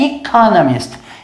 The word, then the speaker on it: economist: É muito comum, mas muito comum mesmo, das pessoas inverterem esse M com N. Em vez de falar economist, acabar falando economist. Mas lembre-se que a pronúncia é economist, que é economista.